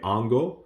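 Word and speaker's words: hongo: of these miscellaneously okay Ango again the H is silent okay Ango what's up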